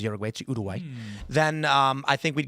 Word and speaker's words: Uruguay: If we did USA versus Udai, that's how you pronounce Uruguay by the way. Everyone says Uruguay Udway then um I think we'd get Or how about Warriors versus Magic?